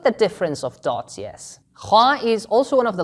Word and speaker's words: خ: Kha is also one of the letters that doesn't have a counterpart in English. Non-Arabic speakers usually pronounce it with a sound similar to the letter K.